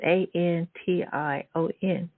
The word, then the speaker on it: Antion: Antion? It's so cool. It's Antion.